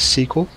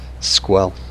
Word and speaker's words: SQL: structured way and almost everybody in the world pronounces it as sql so this sql server sql programming language excuse me t sql or microsoft sql servers and i once met someone who pronounced it as squel it took me a little while to figure